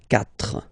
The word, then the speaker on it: quatre: So you get this Q, U, A, but then the sound that you will pronounce is K, okay? Quatre, quatre.